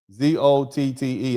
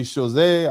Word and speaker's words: Chazotte: man named Peter Stephen Chazot, and that's spelled Chazotte. I'm not going to try to pronounce it like I'm French. I'm going to pronounce it like an American. Chazot. Maybe Chazé, I don't care.